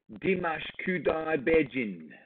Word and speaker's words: Dimash Kudaibergenov: So I'm going to go here because I've written it out phonetically. And thank you so much. It is Dimash Kudaibergenov. I'm going to say it quick now. Dimash Kudaibergenov.